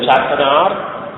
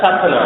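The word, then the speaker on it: Sattanar: In Kerala we call it Chatanar. But it is in Tamil, you generally pronounce it as Satana, I think.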